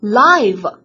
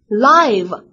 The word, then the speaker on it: live: 时候呢，它就读作 live， live。